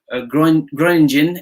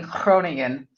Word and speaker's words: Groningen: And you did a very good try at pronouncing Groningen. But you have to get the Dutch G down a little bit better.